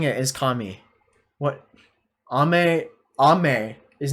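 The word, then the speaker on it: 神: have like a lot of questions kami is pronounced kami i am saying it is kami what ame ame is not kami ame is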